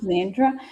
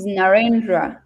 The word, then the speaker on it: Narendra: Is it Nandra? Guys, like I said, for me, when I do pronounce your name wrong, I really, really feel sad about it. I don't like pronouncing people's names wrong. So, when I really pronounce your name wrong, I really feel sad about it. So, guys, just pardon me. It's Narendra. Sorry, it's Narendra. Hi, Narendra.